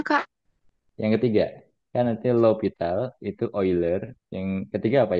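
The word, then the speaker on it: L'Hôpital: 0 per0 ya biasanya tapi kamu jangan baca Hospital Hospital ya lital lital sama kayak ini ini ya Ini bukankan eer bacanya Ya tapi oiler oiler ini cara bacanya lowital low pital low pital kalau ini bacanya oiler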